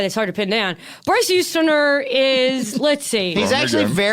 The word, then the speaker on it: Bryce Houston: You already said his name wrong. Yeah, his name's Bryce Houston. You could just simply hear me say that and keep that in your brain.